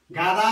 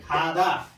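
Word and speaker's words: 가다: उदाहरणहरु लेखिदिन्छु म जस्तै गा प्लस दा गादा नभएर के हुन्छ त अब हामीले यो उच्चारण विधि हेरिसकेका छौं नि खादा खादा हेर्ने है खादा खादा भन्नुपर्छ खादा भनेको जानु खादा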